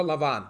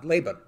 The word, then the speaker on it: Laban: Jacob is talking to Lavon Laban okay so I'll be using a lot of the Hebrew pronunciations so yeah akov is